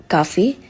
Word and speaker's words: café: The pronunciation of l'accent aigu often sounds like A, which means the English word we use stay or say. And some of the examples are café, which means coffee in English, and été, which means summer in English.